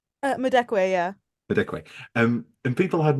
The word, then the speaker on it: Madekwe: People, if people had more fun with Oscar clips, and they should, and actually, and how do you pronounce Medeke? Madekwe, yeah.